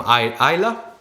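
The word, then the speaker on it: Islay: I'll say many from Isla. Yeah. Is that the right pronunciation? Yes. Isla, yes.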